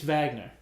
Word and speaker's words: Wagner: Mo Vagner Oh Magnus it's Vagner how do you spell what huh you pronounce Wagner with a V yes it's German oh he's not an